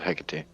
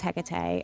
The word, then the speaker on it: Hecate: You wouldn't want to run into somebody called Hecate or Hecate. right. So I am going to pronounce it as Hecate as we're going through this.